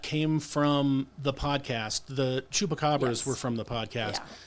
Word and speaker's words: Chupacabra: Oh, Chupacabra?